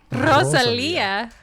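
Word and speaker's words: Rosalía: ] let's get you got to roll your RS when you see that Rosalia American white people start trying to do the instead of the S like the Barcelona no I don't do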